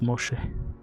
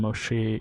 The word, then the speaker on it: Moshe: Amun children or descendant or and this is pronounced Moshe in Egyptian and Moshe in Hebrew is how they pronounce Moses.